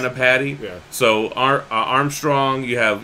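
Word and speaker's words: Anni-Padda: Is that how you say it? Anapati? Yes. Anapati.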